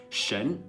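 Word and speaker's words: 神: It's pronounced shen, and it means god in Chinese.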